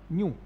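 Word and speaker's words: nu: न न्यू न यू न्यू। ठीक है, यहां तक प्रोनाउंसिएशन है न्यू, क्योंकि एक म यू भी होता है म्यू।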